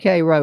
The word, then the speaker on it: Cairo: I said Cairo right.